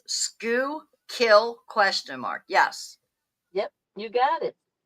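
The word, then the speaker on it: Schuylkill: Greywolf says, "Scoo kill."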